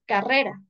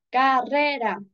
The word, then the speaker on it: carrera: por ejemplo aquí observamos tenemos carrera la mayor fuerza de voz se encuentra en la segunda sílaba tenemos tres sílabas No es cierto carrera la primera sílaba es